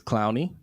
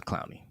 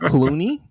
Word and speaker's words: Clowney: First he said clown, and then he corrected it to Clooney. It's not Clooney.